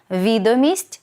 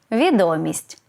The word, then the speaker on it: відомість: як же правильно наголошувати відомість чи відомість відповідаю відразу можна і так і так але у цьому випадку саме Від на голосу залежить значення слова відомість наголос на перший склад